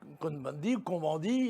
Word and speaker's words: Cohn-Bendit: Même Cohn-Bendit, puisque nous sommes en France, on le prononce à la française.